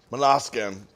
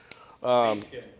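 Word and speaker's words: Måneskin: I'm gonna mispronounce their name, but Monaskin I liked a lot. Okay. I don't know if I'm pronouncing their name right. It's Mane Skin. Main Skin. What's that? Main Skin. Main Skin. Thank you.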